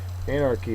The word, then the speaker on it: anarchy: what Anarchy is uh first syllable is accented it's a noun it's